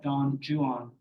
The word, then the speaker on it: Don Juan: wrote a poem called Don Juan some people call it Don Jan uh suggesting that was the English pronunciation at the time I still say Don